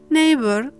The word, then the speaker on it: neighbor: The question is, when is the GH silent? As you might have noticed, after the diphthong sound A and I, as well as after the diphthong sound O or the vowel sound O.